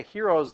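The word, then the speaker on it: Heron's: I just told you herens or it's actually technically it is herens um but don't pronounce the n and you've got hero h e r o n turns into h e o anyway Hero's law the one with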